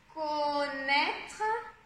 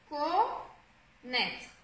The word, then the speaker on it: connaître: Et content de, donc là c'est le E, ici, connaître, donc ici on a, attention ça s'écrit O-N mais ça se prononce, c'est pas nasal, hein, c'est O, connaître, donc non.